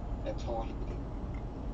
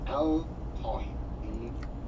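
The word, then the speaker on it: at-Tawhid: back to basic learning at Tawheed. At Tawheed. Notice that didn't say Al Tawheed. At Tawheed. Because the Lamb becomes silent in some words when the word behind it is a word.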